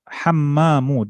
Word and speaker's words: حمام: You I think you pronounced it with the ta at the end. No, here, look here. Hammamu.